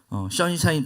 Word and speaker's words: 션샤인: 션샤인 발음이 힘드니까 그냥 선샤인이라고 할게요.